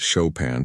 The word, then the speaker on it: Chopin: She pronounced it Chopin to show off her knowledge.